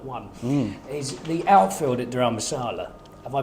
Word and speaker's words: Dharamsala: But my point is, my first point today, my only point actually, because everyone's got one, is the outfield at Dharamsala. Have I pronounced that correctly?